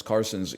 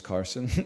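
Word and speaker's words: Carlsen: heck backpack battles Magnus Carson you know I it's it's a soft L he that's how he pronounces it in the original Norwegian it's more like Magnus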